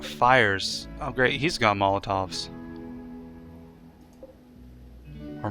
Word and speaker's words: Molotov: That's basically a buffed up Molotov cocktail, isn't it? Yeah, it starts fires. That's what I was afraid of. I don't like fires. Oh great, he's got Molotovs. Or Moltovs.